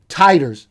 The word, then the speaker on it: titers: show that the vaccine induced high titers i learned from my wife that's the right way to say that titus of serum igg